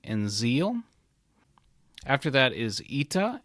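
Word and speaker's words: Ήτα: Zeal after that is ITA and is pronounced like e in meat then we have Theta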